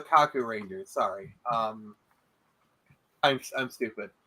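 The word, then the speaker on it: Kakuranger: like okay okay yeah now that you can hear the K I think you're like okay I mispronounced it but like um no no no they're called the Kaku Ranger sorry um I'm I'm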